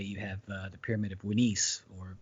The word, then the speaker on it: Unas: have the pyramid of Winis, or better known as Unas, but his name is actually pronounced Winis.